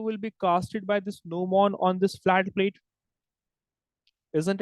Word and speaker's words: gnomon: That is called as gnomon. What do we call this? It is called as gnomon. Pronounced as gnomon. G is silent.